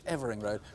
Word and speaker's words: Evering Road: I had at least one call saying that my pronunciation of the road, Evering Road, was wrong. It's Evering Road.